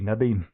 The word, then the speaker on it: Nadine: Well, she's South African, so it'd be Nadine.